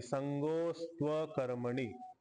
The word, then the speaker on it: सङ्गोऽस्त्वकर्मणि: शब्द होता विसर्गला ओ झाला अवग्रह चिन्ह आला अस्तु अस्तु शब्द आहे अवग्रह चिन्हाला अवग्रह चिन्हाच्या पाठीमागे लपला अस्तु तू तू चा उकार आणि अकर्मणीचा आकार तिथं व झालाय अस्त्व कर्मणी संगोस्त कर्मणी असा उच्चारण आहे संगो अस्तु अकर्मणी संगोस्त कर्मणी थोडासा डिफिकल्ट आहे ठीक